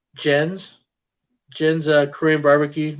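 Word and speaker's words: Gen: all you can eat is that jen or is it ken it's jen jen like jane yeah but the japanese translation is j-e-n but they spell it g-e-n so that's jen's um i'm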